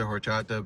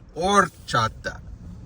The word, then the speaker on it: horchata: The other day I was hyping up the horchata, but oh, I pronounced it wrong. It's called Orchata. I was hyping it up, but it's all right.